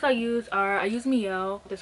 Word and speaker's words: Mielle: So the products I use are, I use Mielle, that's how you pronounce it.